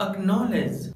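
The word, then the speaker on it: acknowledge: Friends, जब letter सी के बाद के या क्यू आता है तो लेटर सी साइलेंट होता है, जैसे अक्वायर अक्नोलेज।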